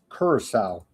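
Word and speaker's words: Curaçao: Let me pronounce this correctly for you. Kurissau.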